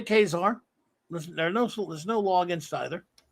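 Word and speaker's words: Ka-Zar: you say it now do you say kazaar or khazar i used to say just kazaar and i have it but it i think it's kazaar a character as old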